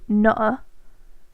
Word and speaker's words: nutter: You know, you absolute nutter. Yeah, no, you need to pronounce the T, but we're in the north.